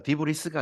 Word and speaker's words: debris: debris가 아니라 debris라고 발음하는 거라고 그러죠. debris. S가 무음이에요.